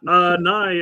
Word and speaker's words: Nye: Nye apparently rhymes with high. So I got it right. And Nye, I appreciate your never-ending story thumbnail. Or not thumbnail, but your picture. Did I say nye or nay?